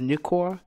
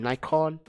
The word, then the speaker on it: Nikkor: See, it's pronounced Nikkor. A lot of people keep saying Nikon. It's Okay, first of all, the name is Nikon, but the lenses are Nikkor.